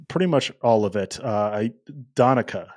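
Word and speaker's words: Donnecke: Donica is what she said. She said if you're going to say it American English, it's Donica.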